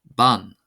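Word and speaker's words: bean: So for example we have ban ban ban ban ban ban meaning woman.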